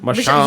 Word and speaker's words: Machon: Machon. Machon.